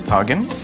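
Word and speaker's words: tajine: that's associated with morocco only in egypt the words pronounced differently we pronounce it as targen i love it when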